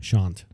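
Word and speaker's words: Sashant: Shant. But it's spelled S A S H A N T. Shant.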